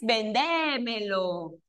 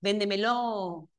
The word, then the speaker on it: véndemelo: No es vendémo. Véndemelo. Véndemelo. Es véndemelo. De acuerdo.